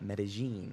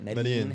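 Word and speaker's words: Medellín: The locals call it Medellin, and they like a J on it. Medellin, however you say it.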